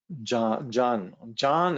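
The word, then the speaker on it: jhāna: Recently, Tsongsa Jamgön Kongtrul Lodrötaye has been teaching Jan is really how you pronounce it, but it's spelled Jana, Diana, if you like.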